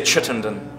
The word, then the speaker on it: Chittenden: Richard, how do you say Chittenden?